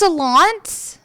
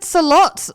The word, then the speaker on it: Solondz: It's pronounced Solondz? Yeah. I said Salot the whole episode last week.